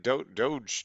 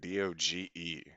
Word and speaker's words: doge: time we ever saw the word d-o-g-e but it was pronounced dog he was just like